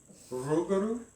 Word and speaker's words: Rougarou: And it sounds so cool when you roll your R, which I can't do. Rougarou?